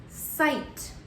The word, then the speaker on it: sight: Lastly, I'm going to mark my I with a long vowel. Remember, the T is not silent. The word that we wrote on the board is sight.